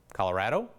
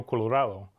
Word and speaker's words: Colorado: Spanish roots Rio Colorado evidence from the 1800s show schools teaching a version that sounds strange to our ears Colorado Colorado will call that the pioneer pronunciation another way of saying our state's name still persists on the plains you can still hear Colorado which is an older version that used to be more popular but there still are